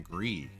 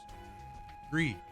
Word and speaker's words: Gris: Oh called him Gree actually I think it means gray. How do you say that in French right? Speak French. I found the YouTube video that gives Gree. I was right.